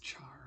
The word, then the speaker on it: char: but like I said I think it should be a care because it's short for character so we're gonna do